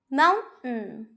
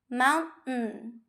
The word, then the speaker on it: mountain: وبدل ما إن أنا أنطق شكل T بشكل صريح وواضح، أقدر إن أنا أعمل وقفة وأنا بنطقه. For example, button, button. Press the button. Press the button. Mountain, mountain.